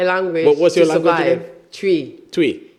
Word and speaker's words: Twi: Tree. Everyone say tree, like chewing gum. Tree. Like you're chewing gum.